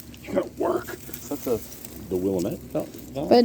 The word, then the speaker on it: Willamette: That's the Willamette. But not when you yes. do Willamette, is that how permaculture. it's pronounced?